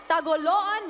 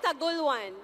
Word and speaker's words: Tagoloan: And our last, but certainly not the least, candidate this evening, Miss Tagoloan Misamis Oriental. Did I say that correctly? Tagoloan? It's Tagulwan. Tagulwan. Oh, I've been mispronouncing it the whole time.